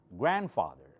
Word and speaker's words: grandfather: See, I'm not saying grandfather. This D is almost silent. You don't hear it. Okay? Grandfather, grandmother.